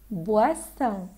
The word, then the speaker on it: boisson: الرمارك المهمه جدا جدا جدا هي ان احنا لازم ننطق صح في كلمه بواسون وكلمه بواسون. بوا بوا جاي من فيرب بوار، poisson p poisson boisson boire.